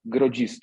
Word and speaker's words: Grodziskie: we are going to talk about grocery this is the right pronunciation the logistics it's probably